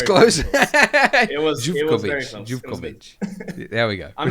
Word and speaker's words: Zivkovic: Zivkovic. There we go. I'm not gonna hold any grudges over the mispronunciations of weird Eastern European last names.